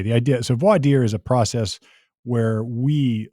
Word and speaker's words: voir dire: Well, look, the pronunciation is all about where you're from.